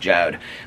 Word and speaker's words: Jord: guys, doing the Jode, it's Jord, but it's pronounced Jode.